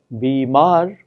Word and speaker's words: bimar: In the word sitar, even words such as bimar, it is the final syllable which is stressed, tar and mar.